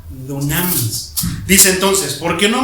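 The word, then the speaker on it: δύναμις: Así se pronuncia, dunamis.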